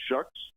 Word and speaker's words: Shuck: This first guy, Benjamin Shucks, is that how he pronounced his name?